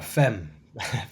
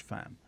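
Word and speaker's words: femme: here or fam uh fem F's the word and and explain why it's that pronunciation rather than the French fam the French fam I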